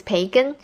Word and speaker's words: 培根: Bacon in Chinese is 培根, which comes from the English pronunciation.